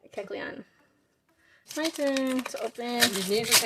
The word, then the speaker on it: Kecleon: Kecleon. Kecleon.